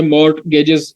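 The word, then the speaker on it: mortgage: पे मैंने लिखा है मॉर्गेजेस इसको लिखा जाता है और मॉर्गेज पढ़ा जाता है, टी इसमें साइलेंट है।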